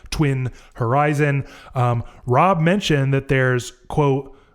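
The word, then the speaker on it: tuinorizn: says is that it it is phonetically pronounced like Twin Horizon.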